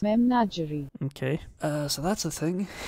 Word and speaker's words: Memnagerie: Memnagerie is how it's pronounced in English, is how this says. Memnagerie.